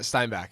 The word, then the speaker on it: Steinbach: but your hometown of Steinbach Manitoba am I pronouncing that right Steinbach yeah Steinbach all right Steinbach yeah Steinbach pretty close pretty